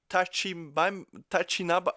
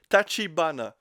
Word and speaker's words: Tachibana: She then explains to them that she is the boss of the Tachinaba. Oh my god, my Japanese. I'm gonna have to go back there just to pronounce things correctly. Tachibana.